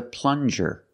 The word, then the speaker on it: plunger: good this is a plunger plunger use the regular n and the JJ sound like juice plunger this is a plunger